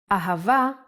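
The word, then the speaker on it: אהבה: Ahava is love in Hebrew. Let's try to write it down. Ah, pronounced Ha.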